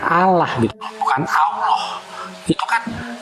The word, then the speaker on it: Allah: itu enggak gitu karena di situ ada tafhim namanya tebal pelfalannya diajakan maka Allah gitu kan Nah huruf Arab itu engak kenal huruf o makanya di situ penulisannya a tetapi dibacanya tebal Allah makanya diajarkan cara melafalkannya begitu masah kalau kamu mau